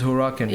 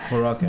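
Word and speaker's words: Huracán: I think it's Huracan. Yeah. Huracan.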